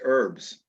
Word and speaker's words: herbs: In Brooklyn, we don't pronounce the H, so it's herbs. Herbs? Yeah, so is it Or as I said earlier today, peach is an herb. Yeah. No, it's herbs. There's no, the H is sort of silent, but people do say herb.